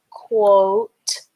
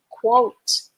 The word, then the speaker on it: quote: Q U has the qua sound. O has the O sound in this word. Qua O T has the ta sound. The E is silent, okay? You write it when you spell the word, but you don't hear the sound of the E. So, that's qua O t qua O t quote quote quote Q U O T E quote Okay?